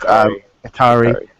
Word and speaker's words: Hikari: The Haraki or Haiki or whichever way it's supposed to be pronounced. Hikari. We have like Korra all over again. It takes me a couple of episodes to get it.